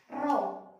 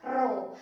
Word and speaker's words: rho: Kita bacanya dibaca rho. Oke, simbolnya adalah P miring, dibacanya adalah rho.